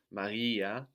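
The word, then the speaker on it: μαγιά: Magia, which means like magic or a spell. And then magia, with the accent on the A on the end, which means yeast.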